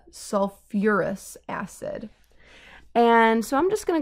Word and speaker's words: sulfuric acid: have another instance where pronunciation comes into play sulfus acid it's kind of hard to say so we add back in the you are so it's a sulfuric acid and so I'm just